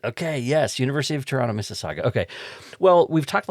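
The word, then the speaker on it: Mississauga: University of Toronto Missaga.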